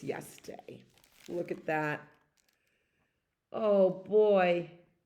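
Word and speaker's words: да: Da.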